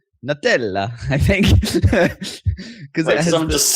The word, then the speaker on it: Nutella: and thought, oh, that's how NU is always pronounced. Yeah, but new metal... It's Nutella.